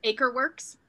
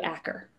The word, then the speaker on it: Akerworks: I'm pretty sure it's Aker. Akerworks. I once met Evanita. Uh-huh. And she knows them, and that's how she pronounced it, because I used to do Acker.